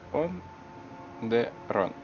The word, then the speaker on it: Onderon: Как он правильно? Он Дерон. Ну, вроде бы, пишется так, как звучит.